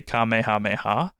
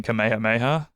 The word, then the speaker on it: Kamehameha: name cuz I guess if you're going for the original Japanese the correct pronunciation would be keha Mayha but because of the the everyone kind of knowing King kameha Mayha that was how was pronounced in a lot of Dubs so I don't think